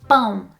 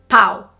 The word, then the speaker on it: pão: Bread is pão not pau. Pau is stick. So, you have to really be careful and get that nasal pronunciation of um correctly and a lot of people make that mistake.